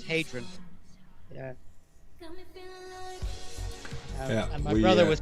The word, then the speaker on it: Hadrian: It's just a lot of people think it's Adrian, which is the Anglo name. Like a Rocky. Yeah. Adrian. But it's because, again, the Brits have a difficulty with pronouncing H's. So, But it's Hadrian without the H, right? without the H, yeah. But the original Latin name is Hadrian.